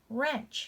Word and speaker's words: wrench: Silent W. Wrench. Wrench. You see, guys, I'm not making that W sound at all.